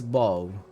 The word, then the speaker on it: bow: Front of a ship, bow, ranged weapon, bow. You don't say the W sound, the V sound at the end of the ranged weapon. We just say bow, not bow.